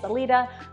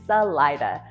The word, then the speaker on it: Salida: So those with the Spanish-speaking background, of course, are going to want to say Salida, but yeah, it's Salida. Hard I, accent on the middle syllable, and yes, people will correct you if you say it the other way.